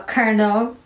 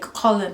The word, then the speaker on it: colonel: have a side note if it's spelt c-o-l-o-n-e-l why do we not say the l like whenever i remember when i was younger i used to see that one i used to be like colin now right then when